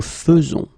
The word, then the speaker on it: faisons: keep in mind is the way you will pronounce it, because you don't pronounce it e as normally you should, but you will pronounce it like e. Nous faisons. Okay, it's really fe, fe, fe. Nous faisons. Okay, you see it with e, but then you pronounce it fe.